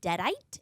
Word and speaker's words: Deadite: But I can say Alyssa Sutherland as Ellie, who plays the Deadite.